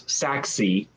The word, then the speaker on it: Sachse: This is the SACHSE, which I looked up online, and it came back as Saxy. But apparently there's a German pronunciation that's like, I don't know.